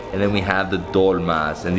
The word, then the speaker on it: dolma: And then we have the dolmas, and these are called dolomos, or how do you say them? Dolma. Just dolma? So in Greek, it's dolmatis, and it's basically, it's